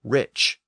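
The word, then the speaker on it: rīc: k sound but remember in Old English it was pronounced Rich so it had experienced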